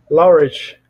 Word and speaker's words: Laureate: Parabéns aí, muito obrigado demais aí por compartilhar a experiência que você tem aí a me ajuda a pronunciar aí o nome, é Laureat, é isso? É, Laureate.